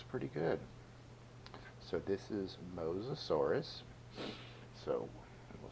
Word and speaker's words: Mosasaurus: So this is Mosasaurus. So we'll spell that.